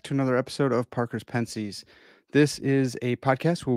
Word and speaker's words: Pensées: sedicus i'm your host and i know it's pronounced ponce's but i'm an american swine so i say pence's i have a really special guest with me